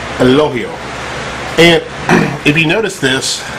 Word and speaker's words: Elogio: to say it it's Al loio it's not two syllables it's just one syllable all the way through the G is actually pronounced as an H now four years of